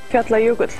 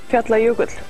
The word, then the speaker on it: Fjallajökull: It is called, well, I can't actually pronounce the name, but I have a guest here from Iceland who can. Fjallajökull. Thank you. Carbon dioxide output from... Fjallajökull.